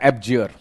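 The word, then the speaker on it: abjure: एक वर्ड आपके सामने लिखा एब्जियर। ये इसको क्या प्रोनाउंस किया जाता है ये मैंने लिख दिया है, आप लिख दिया है यहां पे, देख लीजिए।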